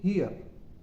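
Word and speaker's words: hear: students जो words है एच एच ई ए आर और एच ई आर ई इन दोनों का उच्चारण एक ही तरीके से होगा ट्रांसक्रिप्शन एक ही तरीके से होगा इन्हे हम बोलेंगे हियर हियर हियर यह नहीं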